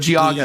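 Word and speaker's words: Geauga: And it does not look like it's spelled that way. Yeah, I'm Gaga. Wow. Wow. Cuz it looks You'd think it would be like Goa or Gogga. I don't know. But Giaga is correct.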